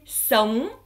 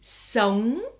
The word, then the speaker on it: sống: Le G ne se prononce pas réellement en vietnamien lorsqu'il est dans ONG.